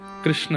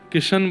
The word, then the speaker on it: कृष्ण: कृष्ण, इस शब्द का उच्चारण कई लोग शुद्ध नहीं करते। क्योंकि शुद्ध कर लेंगे तो फिर भगवत प्राप्ति हो जाएगी। इसलिए सब लोग इस नाम को, कोई किशन बोलता है, कोई कृष्ण बोलता है, कोई कुछ बोलता है,